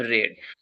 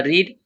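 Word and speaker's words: read: We have रेड spelling जो होगा आर इ ए डी या रीड लेकिन इसका जो वर्ब सेकंड या थर्ड बनेगा वो प्रोनाउंसिएशन में रेड आएगा।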